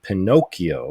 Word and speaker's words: Pinokio: You can actually get it through Pinocchio, which is an app it's spelled Pinokio without CH. It's instead of a CH, it's a K.